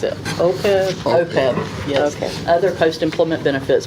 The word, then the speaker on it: OPEB: You can see the How do you pronounce it? OPEB? OPEB, yes.